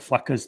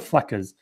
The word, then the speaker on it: Fleccas: street interview channels like Flecka's Talks. Have you heard? I don't know that. Oh yeah, look up like I think it's Flecka's Talks. Look up Flecka's. It's spelled weird too. It's like FLECCAS.